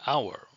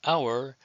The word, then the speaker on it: hour: An elephant, an apple, an hour. The H is silent, so the word hour begins with a vowel sound.